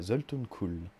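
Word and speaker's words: Zoltun Kulle: Je sais toujours pas si je le prononce juste. D'ailleurs, bon, on n'a qu'à voir ça comme ça. Alors, blablabla. Ouais, Zoltun Kuhl.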